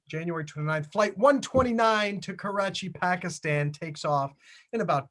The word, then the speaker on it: Karachi: Karachi?